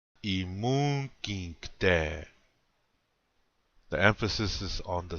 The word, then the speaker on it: imunkinkte: Also, please notice that in the word imunkinkte, again, the accent is on the second syllable. Imunkinkte.